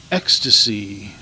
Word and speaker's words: Extase: Ecstasy, and it's spelled really weird, EXTASE. It is a really interesting